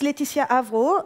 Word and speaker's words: Lætitia Avrot: come to databases I'm my name is Leticia Avro and I'm pretty sure my parents did that on purpose it's very difficult to pronounce if you're not French but if your friends you should be okay what more can say